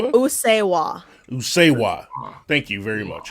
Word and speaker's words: Usseewa: Usuwa.